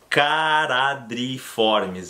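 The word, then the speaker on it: Charadriiformes: uma ordem chamada de karatê triformis lembram na pronúncia o ch a eu não vou falar chá eu vou falar ca cará Dri né dois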